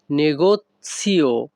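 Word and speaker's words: negozio: এই বাক্যের ইতালিয়ান ভাষা হবে ভাদ আল নেগোসিয়ও নেগসিও না কিন্তু এখানে উচ্চারণটা হবে নেগসিও এখানে ভাদ অর্থ আমি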